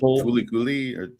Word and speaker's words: FLCL: what is that uh flcl I think called fuli I think it's how it's pronounced something like fi but